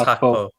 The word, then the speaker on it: Gakpo: I mean, we should actually say his name properly. It's GAKPO. Oh my god. The G is actually H for people that don't know. So it's GAKPO.